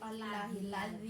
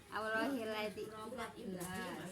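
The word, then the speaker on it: اللهِ الَّذِي: Jadi alifnya walaupun tidak ada enggak ada harokatnya, itu alifnya hidup ya.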